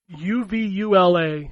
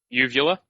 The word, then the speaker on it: Uvula: There's a developer called UVULA. How would you pronounce that? Uvula? Yeah. Uvula? Yeah. Like the thing that hangs down in your throat?